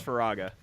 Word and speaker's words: Firaga: Fantasy it's by raga I've always heard it is firaga oh god I'm just pronouncing all this all right you know cuz it's like fire and then Roger pronunciation wiki [ __